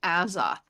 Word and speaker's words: Azoth: It's Azoth, like as above, so below.